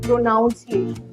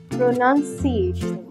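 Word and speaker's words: pronunciation: the next is प्रोनंसिएशन people might mistakenly read it एज प्रोनाउंस नो इट्स प्रोनंसिएशन प्रोनंसिएशन हम कहते हैं लफ्जों की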